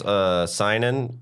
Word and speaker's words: Synan: find you Caleb well my last name is Cynon sy n ANS and no one knows how to say it or spell it should i say wrong